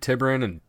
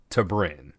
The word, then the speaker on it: T'Brin: Apparently there's 2 ways to pronounce T'Brin. It's like Tibrin and T'Brin. Like the accent is on a different syllable.